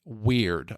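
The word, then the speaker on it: wyrd: common English parlament uh this weird is spelled w y d weird all right so weird is an old English term that roughly translate as fate or destiny.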